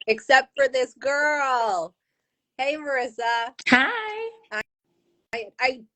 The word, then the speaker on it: Marisa: Yeah, I it's kind of said it Marisa.